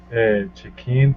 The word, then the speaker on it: check-in: When we say check-in, the check-in, so the first check-in, can you repeat check-in? Check-in. Yeah, so it's just the intonation. The first syllable, check, is really emphasized.